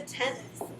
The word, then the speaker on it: tenths: And make sure when you're using that language that you pronounce it very clearly so that you hear that TH on the end. Because it would mean something different, right, if I said tens instead of tenths.